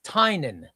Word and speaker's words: Tynion: Oren says, "Ray, tell us how to pronounce" It's Tynion. That's how to pronounce it. Do you want to know who told me that? James Tynion.